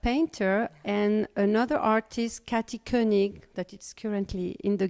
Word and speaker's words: Koenig: Now, Koenig is Koenig. not how, spell it.